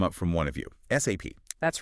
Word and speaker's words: SAP: It's not SAP. Forget saying it like a word. No, definitely not. You have to spell it out. SAP every time. SAP. Apparently saying I took an SAP course is well it just doesn't sound right in that world. It really doesn't. Yeah. So takeaway number one spell it SAP.